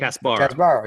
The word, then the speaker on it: Casbarro: Casbarro.